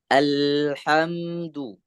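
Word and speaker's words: الحمد: Di bagian huruf lam yang sukun, hati-hati jangan sampai terpantul. Jadi bacanya tidak boleh tidak. Jadi bacanya kita mau memberikan hak-hak si huruf. Jadi dia tidak punya sifat qalqalah, maka jangan dibaca Ya. qalqalah. Bacanya alhamdu. Alhamdulillahi rabbil alamin.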